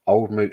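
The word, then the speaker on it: Old Mout: didn't realize it was pronounced old moot until uh I came across a wooden display that told you how to say it and then it said old moo pronounced incorrectly since 19 blah blah blah it's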